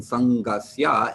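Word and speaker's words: saṅgasya: So the dot under the N in Sangasya indicates that the N will be pronounced with the middle of your tongue up against the roof of your mouth midway back. So it's a little more of a nasal sound than an N sound with your tongue up against your teeth.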